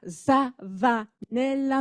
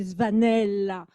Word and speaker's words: Zvanella: Dumas a un S et Zvanella, c'est pas Zavanella, mais c'est Zvanella, d'origine italienne.